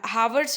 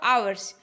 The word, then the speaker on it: hours: क्या पढ़ते हो, आर्स, जैसे हावर्स होते हैं ना, HOURS, हावर्स बहुत लोग पढ़ते हैं, बहुत लोग क्या सुना आवर्स, तो आवर्स है तो एच क्या किया आपने, साइलेंट रखा ना, तो बस उसी का मतलब होता है।